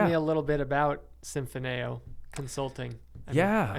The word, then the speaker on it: Symphoneo: Tell me a little bit about Symphoneo Consulting. I said it right? Symphoneo, you nailed it, man.